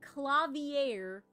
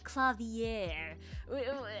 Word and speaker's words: Klavier: It's so Klavier is how you say piano in German. That's the German word for piano, right?